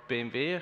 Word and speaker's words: BMW: Today I want to talk about why we at BMW, or BMW, how we pronounce that in German, are using Zuul for driving our continuous integration of our future automotive projects.